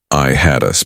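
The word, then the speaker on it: IHADSS: I hey DSS, usually pronounced I had us by those who wear it.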